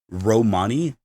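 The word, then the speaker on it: Romania: would know her as Dr Romani r-o-m-a-n-i-a but the a is silent which a you figure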